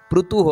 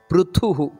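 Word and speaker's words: ಪೃಥುಃ: ಪ್ರಾಣ ಪ್ರಾಣದ ಪ್ರಾಣ ಪ್ರಣವ ಪೃಥುಹು ಥೂ ಅನ್ನೋದು ಮಹಾಪ್ರಾಣ ಅಲ್ಲಿ ಪೃಥುಹು ಅಲ್ಲ ಪೃಥುಹು ಅದನ್ನ ಒತ್ತುಕೊಟ್ಟು ನಾವು ಹೇಳಬೇಕಾದದ್ದು ಅದೇ ರೀತಿ ಹಿರಣ್ಯ ಗರ್ಭ ನೋಡಿ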